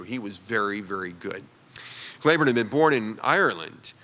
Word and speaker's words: Cleburne: in Texas, it's pronounced Cleburne, I think. And as the name of a general in the Confederate Army, it was pronounced Claiborne, even though it's spelled the same way.